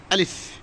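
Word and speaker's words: ألف: আলিফ আলিফ আলিফ আলিফ একটু তাড়াতাড়ি। টানা যাবে না।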